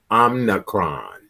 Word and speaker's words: Omicron: Omicron.